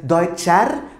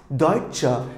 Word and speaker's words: Deutsche: cha Deitch here is pronounced not as daichan but Deutsche so that becomes just